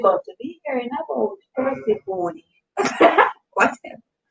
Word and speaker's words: Persephone: Drew said Persephone is pronounced Persephone.